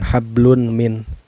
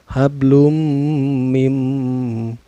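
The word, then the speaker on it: حبل من: ke huruf mim Hai cara bacanya bukan Lun bukan hablun Min tapi dimasukkan ya hablum mim dan ditemukannya memasukkan sambil dengung hablum mim mamameme makanan disini hukumnya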